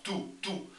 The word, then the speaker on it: tú: Pues pronunciamos con intensidad, tú.